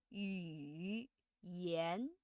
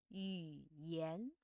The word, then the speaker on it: 语言: When reading, it can't be pronounced as 语言 Well, it's very rigid, very stiff, and very unnatural. It should be pronounced like 语言 just the first half.